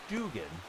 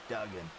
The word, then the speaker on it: Dugan: It's Dugan, not Duggan.